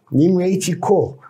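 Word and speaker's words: 宁为鸡口: 그러니까 이제 이건 중국식으로 뭐 닝웨이 지코 그렇게 말합니다. 닝웨이 지코 그 다음에 오웨이 니오 호 이렇게 발음이 나요.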